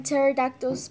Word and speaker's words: pterodactyl: Why can't you hear when pterodactyls pee? What? Because the pee is silent.